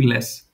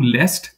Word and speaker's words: lässt: I'm not saying last. I'm just saying less. You can say do lest, there is nothing wrong in it, but I'm just telling you how normally people where I live in Germany pronounce it. So you don't have to pronounce the T part.